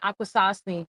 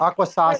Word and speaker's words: Akwesasne: He said Akwesasne. Like we're like Aquasas. Okay, I knew I said it wrong.